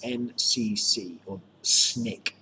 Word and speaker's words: SNCC: and we get the s and CC or snick s ni ck it's pronounced but you call it the SNCC the